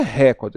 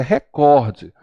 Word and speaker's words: recorde: A pessoa fala recorde. Não é recorde, é recorde. Porque se fosse recorde, a sílaba tônica seria no ré. Logo, ela obrigatoriamente estaria acentuada, porque eu acentuo todas as proparoxítonas.